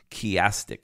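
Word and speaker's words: chiastic: biblical study a a chastic structure and you spell that c h i a s t i c chastic structure it's named after the Greek letter Kai which is a letter X so if you think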